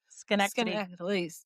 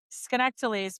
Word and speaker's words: Schenectady: How would you pronounce it? Schenectady.